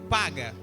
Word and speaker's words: paga: Intercessão, no hebraico, se escreve paga, P-A-G-A, que significa colisão violenta.